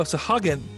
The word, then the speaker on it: Sahagin: pronounce that? Oh, Sahagin.